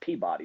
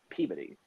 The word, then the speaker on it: Peabody: It's not pronounced Peabody, it's Peabody.